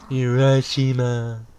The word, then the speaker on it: Urashima: URASHIMA. I was pronouncing it right.